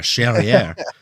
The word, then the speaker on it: Charriere: Charriere. Rhymes with derriere.